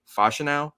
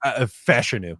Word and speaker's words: Fashanu: versus uh Olu fashanu I I always say the last name wrong for some reason I just can't say fashino is is that how you say it fashion new apparently fashion yeah see it always